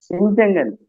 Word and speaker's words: பிஞ்சகன்: இருங்க இருங்க நான் எடுத்துறேன் இதுல என்ன சிக்கல்னாக்காக பின்யகன் அப்படிங்கிற சொல் போட்டிருக்காங்க சரி எப்படி உச்சரிப்பது என்று சரி அது இஞ்சி அப்படிங்கிற அந்த இது உச்சரிப்பே ஓசையே வரவில்லையா சந்தேகமா பிஞ்சகன் பிஞ்சகன் தாங்க ஐயா பிஞ்சகன் சொல்லல அது ஒன்னு அப்படித்தான்